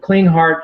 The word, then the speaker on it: Klinghardt: Now, he has an institute, the Clean Heart Institute, and by the way, that's spelled a little differently than what it sounds. It's KLINGHARDT.